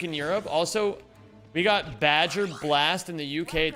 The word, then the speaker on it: Baja: It's pronounced Badger. Wait, you guys call it Badger Blast over there?